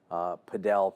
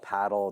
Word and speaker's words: padel: Padel, paddle, it depends how you, tomato, Yes. tomato, how you want to pronounce it.